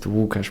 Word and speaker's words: Łukasz: Podcast or was it Wookash Podcast, but soon after in this area, I changed it to Wookash Podcast. And Łukasz is just pronunciation of my name, but normally, Lex Friedman has a Lex Friedman, his name.